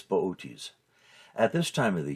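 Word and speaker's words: Boötes: in the lap of booties if you saw his name spelled out you'd want to pronounce it booties but it's bootes at this time of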